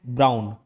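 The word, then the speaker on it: Braun: याद रखना है बस ये ब्राउन हालांकि इसका spelling B आर ए यू एन है बट जैसे मॉनिटर ब्लैक मॉनिटर रहता है ब्राउन मॉनिटर रहता है वाइट मॉनिटर याद रख सकते हो ब्राउन मॉनिटर ब्राउन मॉनिटर तो ब्राउन से ब्राउन नाम याद रह जाएगा स्पेलिंग भले अलग है कब किया था इन्वेंट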